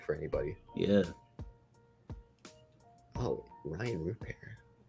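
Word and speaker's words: Rupert: ahead and uh Ryan I I heard it be pronounced like root pear uh the kid from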